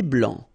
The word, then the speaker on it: blanc: Un thé blanc, final C not pronounced.